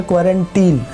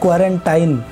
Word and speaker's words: quarantine: दोस्तों, सबसे पहले तो इसका प्रोनाउंसिएशन जान लीजिए कि इसको बोला जाता है क्वारंटीन, नॉट क्वारंटाइन। तो बहुत लोग हैं जो कि अब तक क्वारंटाइन बोलते हैं, एक्चुअली ये क्वारंटीन होता है, और इसका जो हिंदी मीनिंग है संगरोध।